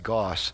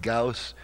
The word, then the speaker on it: Gauss: of the word I always thought it was pronounced Goss so you may uh you may hear me pronouncing that word Goss from time to time uh saying gaus is just some for some reason a really